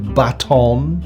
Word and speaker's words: baton: This nice extendable baton? Why do Americans pronounce it like they're trying to do a French accent? It's a baton!